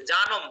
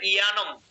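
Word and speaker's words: যানম্: জানম, ওটা হচ্ছে জানম, সংস্কৃত উচ্চারণ হবে ইয়ানম।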